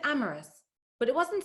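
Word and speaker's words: Amaris: to london paddington i asked her how she pronounced her name she said amorous but it wasn't spelled the way it sounded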